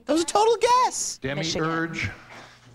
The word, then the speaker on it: demiurge: Demiurge. Are there any alternate pronunciations? The British sometimes say demiurge.